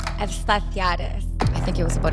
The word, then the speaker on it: Efstathiadis: Efstathiadis.